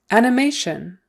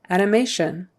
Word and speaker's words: animation: Animation. Animation. Accent on the third syllable. Sorry, the stress is on the third syllable. Animation.